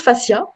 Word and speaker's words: fascias: donc les fascias donc moi je prononce fassia à la francophone après l'alien rennes les italiens prononce un peu différemment mais voilà moi j'en